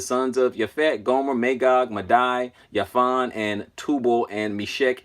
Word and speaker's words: Madai: And it says Madai. Okay, that's how it pronounces, and that is what 4074 in the Hebrew.